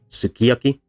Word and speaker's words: sukiyaki: syllable is stressed so the su at the beginning is unstressed and it becomes reduced and then in some for some speakers eventually deleted so you have this range of fully pronounced sukiyaki then weakly pronounced and then eventually um the u disappears entirely and the first two syllables uh merged into ski and we have a word with three syllables instead of four and here we have